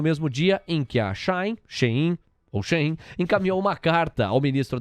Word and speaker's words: Shein: Por protocolo aqui, vamos falar então como os veículos de comunicação têm falado, Shein, parece ser a pronúncia correta.